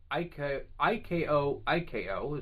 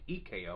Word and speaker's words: IKO: We have IKO is how you pronounce it, even though I thought it was EKO or OKO.